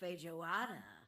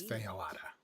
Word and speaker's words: feijoada: Ooh, or what about feijoada? I've only heard of it, but it's supposed to be this rich bean stew. Won't think the J would be pronounced. I think it's feijoada, actually.